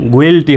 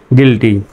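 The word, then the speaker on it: guilty: তাহলে জি ইউ আই এল টি ওয়াই যদি স্বাভাবিকভাবে বানান করেন গুইলটি হয়।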